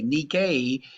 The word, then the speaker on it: Nike: our pop culture today nikkei is spelled nike or it's also known